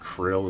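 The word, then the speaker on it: Krile: Curl would be a valid romanization. Pressing it like krill is probably the closest.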